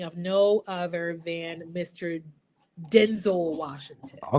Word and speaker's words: Denzel: So, the correct pronunciation for his name is Denzel.